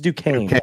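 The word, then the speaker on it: Duquesne: __ ] this up this is Du Kane right that's how you say it okay Duke Kane man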